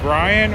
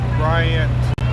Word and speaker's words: Bryant: Is it Brian or Bryant? Bryant. Bryant with a T. All right. So I have been saying it right. Some people have been saying it's Brian, and I'm confused. Yeah, different people say Brian, think it's B-R-Y or B-R-I-A-N. There's a variety.